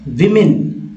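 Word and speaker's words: women: नीचे वाला है इसको हम लोग बोलते हैं विमेन विमेन तो ये अब जो है वूमेन और वूमेन कहा जाता है उच्चारण में तो आपको ऐसे ही कहना है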